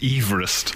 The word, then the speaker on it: Everest: of mispronounced names yeah the guy for whom Mount Everest is named apparent spent his whole life really tety correcting people because it's Everest really so his greatest Monument